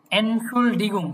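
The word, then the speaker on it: Entschuldigung: এনসুসডিলগুং, যে ওইটার প্রোনাউন্সিয়েশনটা একটু ভালোভাবে যদি বলে দিতেন। আচ্ছা, এনসুলডিগুং, তাই না?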